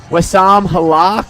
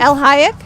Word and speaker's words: El Hayek: place, it looks like, is going to be Wassam Halak. I don't know if that's how you say her name. Finished in El Hayek. El Hayek. There you go.